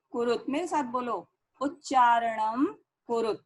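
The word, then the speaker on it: उच्चारणम्: कुरुत, मेरे साथ बोलो, उच्चारणम कुरुत। देखो यहाँ अनुस्वार लगा है और माँ की आवाज आ रही है। अगर आप बोलेंगे उच्चारण कुरुत तो गलत हो जाएगा। ये उच्चारणम कुरुत।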